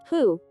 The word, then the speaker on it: hu: associated with the kidneys who pronounced like who which is associated with